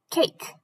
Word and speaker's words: cake: letters say cac but what if buffy e shows up what does he do he says to a share your name and a has to say his name so now the new word is a cake cake let's try another